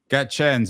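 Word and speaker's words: Gaetjens: How do I pronounce the final name? Gaëtjens? Gaëtjens, a Haitian footballer.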